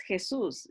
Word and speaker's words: Jesús: Entonces, cuando se traducen los cantos, muchas veces se ha reemplazado la palabra Jesus por Cristo, porque no encaja Jesús en español porque lleva el acento en la segunda sílaba y no suena bien cuando se está cantando, musicalmente hablando en los tiempos, ¿verdad?